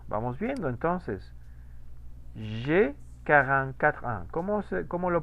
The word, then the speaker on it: J'ai: J'ai 44 ans. ¿Cómo lo pronuncié ese diptongo? Omitió el diptongo, ¿no? No lo omití. Lo pronuncié. Dijo ye. Ajá. Pues como una E.